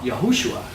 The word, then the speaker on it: Yahoshua: Joshua I mean Hebrew the name Joshua is pronounced yeah yahushua says same as Jesus his